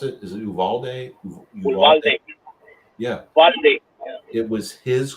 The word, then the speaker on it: Uvalde: Or how do you pronounce it? Is it Uvalde? Uvalde.